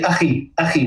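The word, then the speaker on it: أخي: And of course, a lot of people sometimes struggle, with the kha, sound. It's Arabic. It's very, very specific. German has a similar, sounding sound. And, say akhi, my brother.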